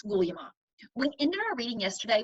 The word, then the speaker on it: Guglielmo: Remember, his first name is pronounced Guglielmo.